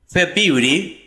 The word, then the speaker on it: February: we have January January February February I don't need the pronounce after the B February February much much